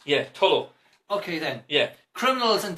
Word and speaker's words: Tullow: Tullow. It ends in an OW, not an AW. Also, the W is silent. Yeah, Tullow.